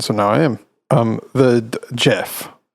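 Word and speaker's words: Gef: The Jeff, spelled G-E-F, but pronounced Jeff, is referred to as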